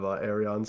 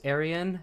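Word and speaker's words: Aerion: It's Arion. It's Arion. Cuz if it was Aryan, his name would be Aryan Targaryen.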